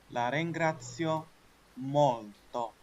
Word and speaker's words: La ringrazio molto: كووري كووري دارجة كنشكروك بزاف رسميا رسميا رسميا لا رينغراتسيو مولتو نطق نطق نطق لا رين لا رين لا رين